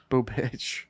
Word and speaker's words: Bubic: believe, in ERA, Chris Bubich, and they got 5 runs in the second. So fuck him, Last name Boob. Bubich. Boobich. That could be mispronounced, but it is like Bubic.